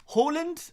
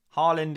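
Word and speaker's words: Haaland: over this one again Halland or Holland it's kind of soft D at the end there is the Norwegian pronunciation of earling Harland Harland is a a kind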